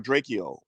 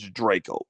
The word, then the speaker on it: Drakeo: checked it out and i pronounced it draco or drachio but it's draco draco the ruler my apologies so so